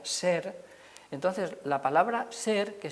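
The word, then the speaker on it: sr: s y una r como no sabemos la vocal que empleaban seguramente pues se pone una e y se pronuncia ser entonces la palabra ser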